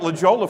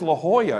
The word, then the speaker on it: La Jolla: of San Diego called La Jolla. I mean, everybody knows it's La Jolla, right? And I was calling it La Jolla for the longest time. For somebody said, "You idiot, it's La Jolla."